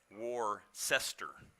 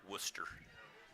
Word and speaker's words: Worcester: Spelled Worcester, but pronounced Worcester, Mass. Boston man here next to me, he understands that. That's not even spelled anywhere near Worcester.